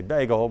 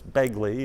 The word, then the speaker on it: Begley: Uh you would a lot of people would say bagel, but it's Begley if you're from Ferdinand.